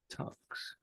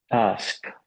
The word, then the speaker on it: ask: Tucks.